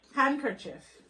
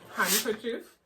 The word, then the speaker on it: handkerchief: next word for kayla handkerchief um because everybody pronounces the word handkerchief but nobody pronounces the d especially jamaicans that's the